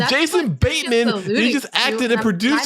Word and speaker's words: Jason Bateman: So it could have been Jason Bretman. I said writers. Jason Bretman isn't a thing. It's Jason Bateman.